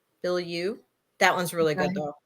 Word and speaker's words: Bilyeu: I can't pronounce her last name. It's Bilyeu. Bilyeu.